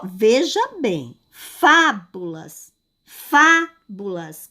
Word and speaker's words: fábulas: Ó, veja bem, fábulas, fábulas. Qual é a sílaba que eu faço, que eu falo, que eu pronuncio com mais força, com mais intensidade? Qual é? Fábulas. É a sílaba fá.